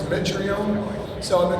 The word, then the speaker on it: Mitrione: A common mispronunciation for my last name is Mitrione versus Mitrione.